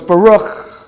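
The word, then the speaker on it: בָּרוּךְ: And so we pronounce that letter as cha. Cha. So it's Baruch.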